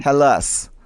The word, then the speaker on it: Hallas: pronunciations about it and um i i say halas is that a love i know it's i i mean you're allowed to say it however you like but i guess is the right pronunciation halas yeah it's it's basically a nonsense word so